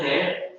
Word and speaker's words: heir: pronounced as air.